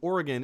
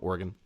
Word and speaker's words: Oregon: For anyone just tuning in and you have no idea what she means by that, Eric is from Oregon. Oregon versus Oregon. Oregon, as in like the body part.